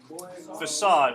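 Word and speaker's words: façade: to have the pronunciation little squiggly thing underneath the C for that facade gives more but like an s-sound to facade remember well it was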